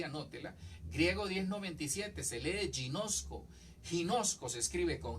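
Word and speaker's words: γινώσκω: la tengo ahí anótela griego 1097 se lee ginosko ginosco se escribe con g y nozco conozco es conocer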